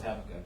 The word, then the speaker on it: Habakkuk: pronounce Habakkuk?